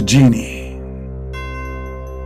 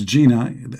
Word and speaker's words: genie: okay remember you know you have to pronounce the word genie correctly that don't don't think it's Gina you know you will